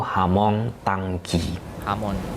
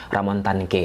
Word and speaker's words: Ramon Tanque: Jika kita gunakan pelafalan bahasa Brazil, penyebutannya itu Hamon Tangki. Akan tetapi biar tidak susah kawan-kawan mengikuti video ini sampai akhir, kita sebut sajalah namanya Ramon Tanque ya.